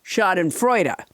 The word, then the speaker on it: Schadenfreude: ends in h and it doesn't end in h it ends in the letter e it's pronounced shot in freuda okay bonnie and when